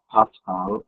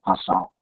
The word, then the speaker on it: Pascal: And it's actually pronounced Pascal and not Pascal.